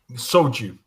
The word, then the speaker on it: soju: you about um um soju is that how it's pronounced slju oh soju soju yes yes sorry and she